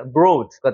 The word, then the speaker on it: abroad: 여기 같은 경우도 여기는 강세가 없으니까 어를 세게 있는 게 아니라 abroad가 되는 거죠. abroad. O 발음이 나는 것이고 여기 같은 경우도 again이라고 사실 읽지 않습니다, 여러분.